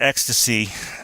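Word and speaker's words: XTC: on another band which is X T C pronounced X to C and that's the sort of the genesis of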